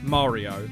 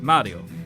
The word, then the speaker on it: Mario: which would have been Mario and then you had the American way of saying it which is Mario right and I would be able to you know vouch for this but both of those pronunciations are wrong neither one of them are right the correct way of saying it at least from my knowledge being half Italian it's Mario like that this high-level access to